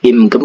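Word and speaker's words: 입금: dulu kosakatanya ya Run kata ibgem ya imgem bacanya itu meskipun tulisannya ipgem Tapi bacanya imgem itu memasukkan kata IP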